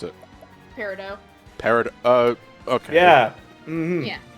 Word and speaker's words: Peridot: I hate that her name's Peridot. Why? Why? That's not how you pronounce it. How do you pronounce it? Peridot. Okay. Yeah. Mm-hmm. Yeah. It's with a Yeah. it's with a silent T.